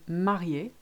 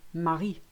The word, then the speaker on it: marié: If you didn't have that last acute accent on the word marié, it would be Marie, as in the name Mary.